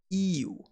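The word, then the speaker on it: 言う: Now, its kun reading is pronounced iu. However, with the modification, it becomes imas, imashita, itte, itta, and so on. So you want to remember the i here as the starting point.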